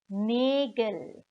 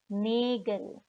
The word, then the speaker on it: Nägel: Die Nägel. So in the plural, the A gets umlaut and the pronunciation changes from Nagel to Nägel.